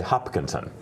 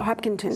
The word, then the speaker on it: Hopkinton: do you say it I say Hopkinson Hopkinson I don't know if I throw a g in there every once in a while oh it's possible people I try hard to say it correctly they hopkington yeah Hopkinton so Hopkinton maybe I say it